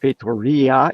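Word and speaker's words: Feitoria: i would like to thank john for telling us it's pronounced fatoria if i am reading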